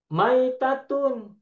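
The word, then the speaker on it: ميتة: Mayitatun dan maitatun hurufnya sama. Mim, ya, Hmm. ta marbutoh. Ya. Tetapi Yang masih bacanya tasdid, berbeda. masih Kalau tasdid. maitatun, ya-nya sukun. Kalau Hmm. mayitatun, ya-nya tasdid kasroh.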